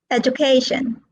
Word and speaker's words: education: Okay, so we've got education, presentation, allocation, conservation. So All these words are stressed on the third syllable, if you will see.